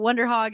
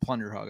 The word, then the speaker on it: Wonder Hog: show to know what Wonder Hog is. It rhymes with Plunder Hog. I said Plunder Hog. I changed it now to to Wonder Hog.